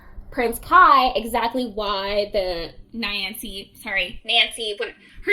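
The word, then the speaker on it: Nainsi: They say Nancy. They call her Nancy. But her name is spelled Niansi. So it's Nancy.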